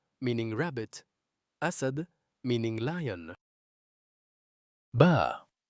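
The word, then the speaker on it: ب: Ba. Ba. It is pronounced from the wet part of the lips when you join them.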